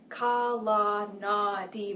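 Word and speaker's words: Kalanadi: It is pronounced the way it is spelled, quite phonetically, Ka-la-na-di, with the stress on the second to last syllable.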